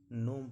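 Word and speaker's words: gnome: जब भी जी के बाद एन आए जब भी जी के बाद एन आए देखिए तो जी का उच्चारण नहीं किया जाता है। रिजाइन डिजाइन नोम पढ़ा जाता है।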